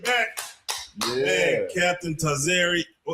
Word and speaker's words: Tazaryach: Tzar I used to be like Tzar Ariak Tzar Ariak to I was I used to have I had to say that a bunch of times. So, I don't expect everybody to just know how to say the name cuz it's not an easy name. So, some people would say the latter part of my name, they'll say Yak, Y A C H.